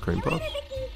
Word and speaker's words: creme puff: merit badges than my cream puff this time. Who knows? You wrote, it's spelled creme puff, but pronounced cream puff?